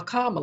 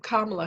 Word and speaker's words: Kamala: d scheduling but then he picked kamala a karma i'm sorry miss pronouncing name kamala hair senator harris senator harris is the lead